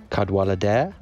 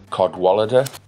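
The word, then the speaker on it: Cadwallader: in welsh or something it's a different it's not a it's not a w sound it's an o sound actually oh yeah caddo clutter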